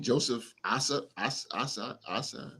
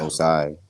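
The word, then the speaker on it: Joseph Ossai: But even on that, pronounce his name, Joseph Asai. Yeah, Osai.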